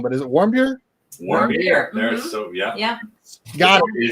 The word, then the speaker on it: Warmbier: Warmbier. There's yeah. Yeah. Got it. It's German for warm beer.